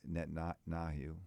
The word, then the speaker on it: Netanyahu: We need someone that can, when the Prime Minister of Israel, Netanyahu, right? How you pronounce his?